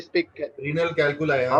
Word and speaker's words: calculi: होते हैं, और अगर मैं थोड़ा सा अगर प्रोनाउंसिएशन में अगर दिक्कत हो, इज इट रीनल नहीं नहीं, कोई बात नहीं भाई। कैल्कली? हाँ, इज इट रीनल क्या कहा कैल्कली? आपने? हाउ we speak, renal कैलकुलाई, हाउ हाँ।